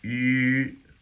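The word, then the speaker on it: ü: That's where this U with the little umlauts over the top, That's pronounced yu, yu, and it's like you start out with an e and you go to an u and you combine them.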